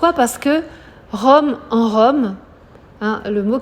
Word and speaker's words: que: vieux murs, c'est ce que Rome on nomme. Alors, le E de que, on ne l'entoure jamais. C'est comme je, c'est comme ne, que, Q-U-E. On l'entoure jamais, ça se prononce toujours comme ça, sauf s'il y a une apostrophe.